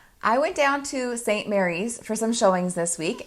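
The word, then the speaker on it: St. Maries: don't miss a video St Mary's is pronounced St Mary's not St Marie and this is a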